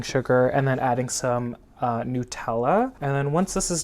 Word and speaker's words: Nutella: pronounced Nutella which is wild because I started pronouncing it in Nutella when I was little and then everyone made